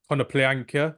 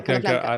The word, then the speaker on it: Konoplyanka: I'm a big fan of Konoplyanka. Do you pronounce that? Did I pronounce it correct? Konoplanka. Yeah, Konoplyanka Konoplanka, Konoplanka.